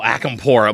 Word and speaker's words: Acampora: can't how do you say your name oh akampura my god my name gets brutalized in so